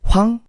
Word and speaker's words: Hwang: Hwang, just don't make the W sound too strong.